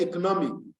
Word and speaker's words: economic: we call penultimate so and in the word economic economic now you realize that it is the third syllable there the first level there is stress the third level there